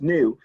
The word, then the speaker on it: nu: equals frequency and it's it's pronounced well it's pronounced new and it's spelled in you new okay h